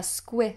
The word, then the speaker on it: squirrel: a squid roll a squirrel and it ends with that dark L so the tongue tip has to come up to the roof of the mouth oh oh squirrel squirrel it's just hidden